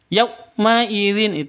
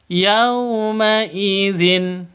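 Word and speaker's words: يومئذ: Yaummaidzin salah. Yaumaidin salah. Yang benar adalah yaumaidzin. Yaumaidzin seperti itu .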